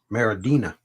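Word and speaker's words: Maridueña: And his last name is Mariduen with that squiggly thing above the N-A. Zolo Maradina.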